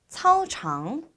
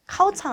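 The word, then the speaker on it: 操场: 우리 짜이를 넣어서 짜이 차우창 차우창 역시 발음 주의해 주셔야 되는데요 카창 아니죠 사우장 그다음 농구를 하다 어떻게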